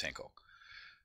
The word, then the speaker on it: Henkel: with and go over hail versus henko or ankle depending on how you want to pronounce it and this court case was way back in 1906.